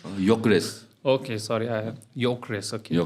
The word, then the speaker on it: Gyökeres: We've even How got do you pronounce his name? Gyökeres.